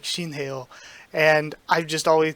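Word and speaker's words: Shinheuh: But yeah, I've always called them Shinwei, even though I know that that's not correct at this point. I'm pretty certain it's Shinheo.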